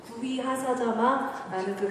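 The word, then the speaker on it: Guhyasamāja: And that's based on Buddha's Abhidharma teaching and also tantric teachings like Guhya Samaja. 이것은요, 아비다르마 가르침이나 아니면은 탄트릭의 구위하사자마라는 가르침에 기반을 두고 있는 것입니다.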